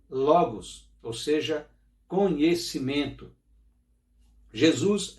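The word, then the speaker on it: λόγος: Essa palavra verbo, para você que ainda não aprendeu sobre isso, é uma palavra grega que se pronuncia logos, ou seja, conhecimento.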